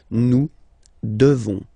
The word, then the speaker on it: devons: Okay, classic ending ONS for nous. Okay, you just pronounce this on, this nasal. Okay, and then the S, final S is not pronounced. Nous devons. Nous devons.